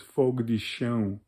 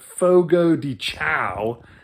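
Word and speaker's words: Fogo de Chão: and they all had a nice dinner at Fogo de Chao, as people like to say it. The way you're really supposed to pronounce it is Fogo de Chao. But Fogo de Chao, as the Americans call it, is an amazing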